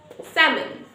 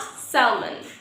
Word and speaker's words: salmon: So almond, talk, walk, salmon, not salmon.